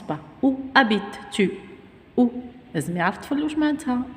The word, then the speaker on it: habite: verbe il a changé le hcc ne se prononcent pas où habite tue ou gignac toulouse matin où ça veut